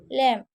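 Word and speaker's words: lamb: लैम्प, यहाँ पर जो आपका एम है ना वो आपका साइलेंट है, तो लैम्प, लैम्प।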